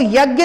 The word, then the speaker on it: यज्ञ: अब ये बोलने में अपन इसको बोलते हैं, जैसे बोलते हैं यज्ञ, तो यज्ञ नहीं होता है, वो उसका शुद्ध उच्चारण होता है यज्ञ।